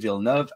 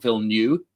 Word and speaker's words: Villeneuve: During an interview with CNBC, legendary CEO Josh Grode expressed that if director Denis Villeneuve, and that's how you pronounce his name, my American friends, not Villeneuve, Villeneuve, and his team write